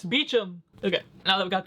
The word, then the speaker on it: Beecham: Hold up, I remember it saying how he pronounced his name somewhere in here. It's Beecham.